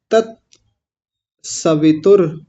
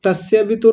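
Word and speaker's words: तत्सवितुर्: तस्य वितुर नहीं बोलना। यह उच्चारण बिल्कुल गलत है। तस्य वितुर तस्य नहीं होता। गलत है। क्या है? तत सवितुर।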